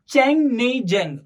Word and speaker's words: Chungneijang: Chang नेई जेंग। Okay, ये pronounce नहीं करना आता है तो तुम ये कर सकते हो, चैंग नेई जेंग।